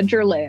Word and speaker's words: Giurleo: no worries it's uh Jero but nobody pronounces it corre actually so it is all